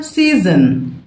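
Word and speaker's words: season: فصل من فصول السنه سيزن سيزن احنا قلنا الاسماء لو منتهي باو ان مش بنطق حرف الاو سيزن زي اسد لاين زي شخص بيرسن تمام اسمه ايه بقى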